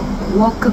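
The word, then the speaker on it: walk: 차이점에 대해서 물어보시는 댓글입니다 워크 걷다 워크는 L이 있지만 L이 없다고 생각을 하시고 발음을 하셔도 됩니다 국제 발음 기호가 어떻게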